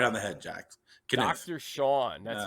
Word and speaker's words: Kenniff: Yep, Kenniff. You know, my mom says Kenniff. My dad says Kenniff. I go with my dad's pronunciation. So you hit it right on the head, Jack. Kenniff.